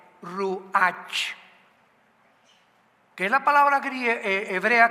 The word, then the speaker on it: Ruach: la palabra como suena, R-U-A-C-H, Ruach, que es la palabra hebrea que significa espíritu, y se pronuncia la CH en el hebreo como J, Ruach, Ruach, como J, Ruach.